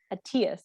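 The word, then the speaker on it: ETIAS: the EU is the ATIAS. Am I saying that right? The European. That's right. Yeah.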